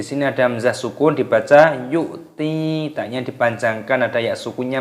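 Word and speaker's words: يؤتي: Alladzi yu'ti, yu'ti, di sini ada hamzah sukun dibaca yu'ti, taknya dipanjangkan, ada ya sukunnya matobi'i, dua ketukan.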